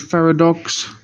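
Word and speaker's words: Pharadox: This one is only the only thing with this one is because it's a play on the word paradox.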